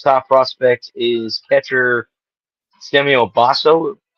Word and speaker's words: Basallo: The O's top prospect is catcher Samuel Bacello. If I'm pronouncing that. I think it's Basallo. I've heard Basallo.